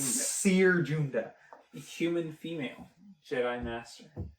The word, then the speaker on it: Siri: Seer Junda. Human female. Jedi Master. Former. She's a human and her name is Seer and they did Ben. Seer's an actual Pronounced name. Siri.